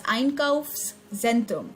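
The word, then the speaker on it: Einkaufszentrum: is called the iron curves scent room thus einkows centrum so try to break the word whenever you see a new word and listen to the pronunciation very carefully thus einkaufs zentrum that's iron curves xentrum let's move on to the second page of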